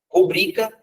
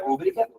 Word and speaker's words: rubrica: Rubrica, não é rúbrica.